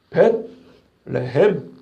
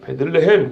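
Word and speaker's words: בית לחם: 벳레헴. 우리말로 이어서 보니까 그냥 베들레헴 그러지만 원래는 벳레헴.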